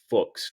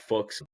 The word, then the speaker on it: Fuks: They got a three star offensive tackle Jack Fuks. Got to make sure I say that one right. It rhymes with books.